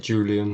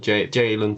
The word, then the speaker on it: Jalen: I want to say, I don't want to pronounce it like Julian, like most people would. Jalen Turner, I think. Jalen Turner. Jalen. Jalen. Anyway. It's better than Julian.